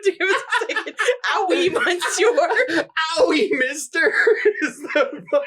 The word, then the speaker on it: oui: Owie? It's spelled O-U-I. That's owie. Did you just say owie, ma?